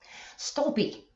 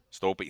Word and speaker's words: Stolpe: Stolpe. Stolpe. See, I was saying it right. Awesome. Stolpe. Yeah. Stolpe. Yes. Awesome. It's Scandinavian Norwegian. I believe it's originally pronounced Stolpe.